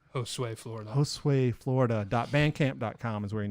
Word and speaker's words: Josue Florida: Josue Florida.